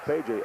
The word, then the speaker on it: Peja: know your reaction when I didn't say ped drag but I said payj all you want to do is say ah you're wrong you pronounced it wrong I know exactly what